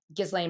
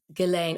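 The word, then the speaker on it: Ghislaine: And also, uh Gizlane Maxwell. Gizlane Maxwell. I'll say her name wrong. Gileain. Gileain. Oh, Gileain Maxwell as well.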